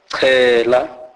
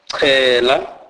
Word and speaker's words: chela: CH is pronounced as chi. Chi. This is the C sound aspirated, e.g. chela, chela, which means sprinkle with water.